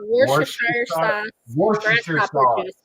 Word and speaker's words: Worcestershire: called Worcestershire sauce Worcestershire grasshopper sauce. juice because they That couldn't is the pronounce hardest it.